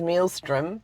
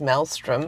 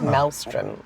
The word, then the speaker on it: maelstrom: So I thought, man, first of all I thought it was mealstrom, but it's maelstrom.